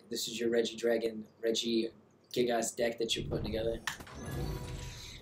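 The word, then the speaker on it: Regigigas: I never pronounce it right. I always say Reggie Jazz. No, it's Reggie Gigas.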